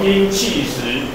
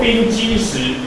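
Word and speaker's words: 冰碛石: 那这种东西叫做冰气石，请不要念作冰基石。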